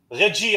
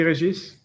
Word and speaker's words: Regis: Today we are here with the CEO of XBORG, Reggie, I think, right? Reggie? Yeah. Well, in French, we pronounce the S at the end. So it's Regis. Regis.